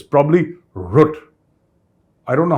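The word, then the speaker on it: Rutte: how to pronounce it I looked it up on Google there is this gutl sound when the hungarians pronounce it and when the Dutch pronounce it it's probably root I don't know how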